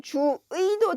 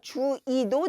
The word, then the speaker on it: 주의: 또 단어의 둘째 음절 이하에 있는 의는 의로 해도 되고 이로 해도 됩니다. 그래서 주의라고 하게 되면 주의도 되고요. 주의도 됩니다.